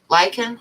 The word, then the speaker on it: lichen: and become like part lichen is how you pronounce it like an okay yep there's kind